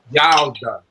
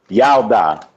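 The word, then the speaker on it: ילדה: Yalda. Say it again. Yalda. Yalda.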